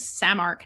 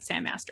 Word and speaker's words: Samark: name wrong that black staff's name is samark not sandmaster sandmaster someone else and